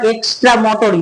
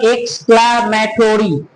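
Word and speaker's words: exclamatory: ওকে, কেউ উচ্চারণ করবো না এক্সট্রামোটরি, that is not called এক্সট্রামোটরি, that is called এক্সক্লামেটরি, এক্সক্লামেটরি sentence.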